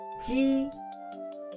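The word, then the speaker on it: ㄐ: To pronounce these three notations, we have to clench the front teeth. Ji, ji, qi, qi, xi, xi, ji.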